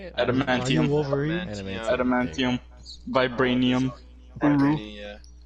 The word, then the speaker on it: Adamantium: Are you Adamantium.